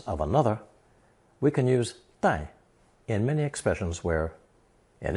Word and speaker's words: 带: It's pronounced fourth tone, 带.